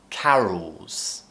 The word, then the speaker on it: carols: Now try and add an S on the end. Carols. Ooh, remember to lift that tongue and create that half-produced L sound. Ooh, we're not moving the tongue. Ooh, carols.